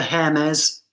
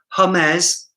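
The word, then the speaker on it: Hermès: We don't pronounce the H in France, but we do here. So this is an argument, right? So I'm not French, so I'm going to see a H and pronounce a H.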